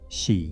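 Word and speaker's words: 四: Because in Japanese the number four is pronounced shi which sounds exactly like the word for death.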